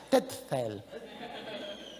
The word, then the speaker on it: Tetzel: Es con una Z. Soy alemán, yo no lo puedo pronunciar bien. Ya la T y la Z en el medio, las dos juntas. Ya usted sabe cómo se puede pronunciar.